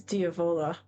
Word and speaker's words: Diavola: say the word devil in Italian while it's diola and today we're going to talk about the